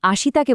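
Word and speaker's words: あした: একই ভাবে মাসুকে বলতে হবে মাস এবং আসিতাকে বলতে হবে আসতা।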